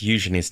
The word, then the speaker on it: Eugenie: really gets on my nerves, and it's the pronunciation of Princess Eujenei's name.